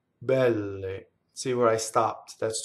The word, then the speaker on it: belle: So what a strong monosyllable will do is cause the next word, if it has a consonant, to double. So very softly, we would say bbɛlle. See? Bbɛlle. She's the double B.